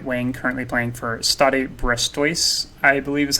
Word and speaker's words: Stade Brestois: He is an English right wing currently playing for Stade Brestois, I believe is how you pronounce the name of that club.